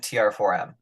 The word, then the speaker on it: TR4M: No, Is it it's actually it's both. Yeah, it's okay? Tram and TR4M. TR4M. Okay, Yeah, cool. so you can pronounce it either way.